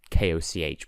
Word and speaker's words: Koch: Like, one of the producers is called Koch or something like that. Or K-O-C-H, but still, Koch.